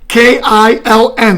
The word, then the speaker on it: kiln: The furnace or the kiln, right? K-I-L-N, right? That's how you pronounce it? The kiln? Yes, you're right.